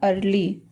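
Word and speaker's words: early: अ की ध्वनि में इ का उच्चारण अ की ध्वनि में जैसे हो गया अर्ली अर्ली अर्ली मीस होता है जल्दी ई ए आर एल वाई ई ए आर एल वाई अर्ली अर्ली means जल्दी यहां पर ई का जो उच्चारण है वह अ के ध्वनि में आ रहा है ई है ई स्टार्टिंग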